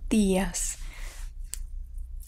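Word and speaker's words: días: so in the phrase dias the tongue is on the back of the teeth more than in the english day day ds next is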